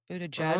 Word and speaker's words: Buttigieg: Buddha Judge. Mm. Can we pronounce his name right?